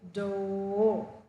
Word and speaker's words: door: The r sound is silent. The last letter is silent in the word door. So it is o, door.